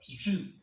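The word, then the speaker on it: יוד: Significa la mano y se pronuncia yud.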